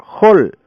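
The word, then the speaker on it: חול: La palabra hebrea traducida como arena se pronuncia hol, que viene de la raíz hul o hil.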